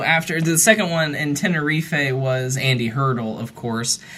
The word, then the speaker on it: Tenerife: our tenerife airport disaster which by the way is apparently pronounced tenerife so i was i'm